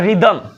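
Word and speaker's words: rhythm: बन गया राइनोसेरॉस और रिदम लाल से लाल मिला रिदम से रिदम मिला तो रिदम में भी ध्यान देना एक साइलेंट है सिर्फ इसे बोल देते हो सिंपली रिदम डेट तो आई होप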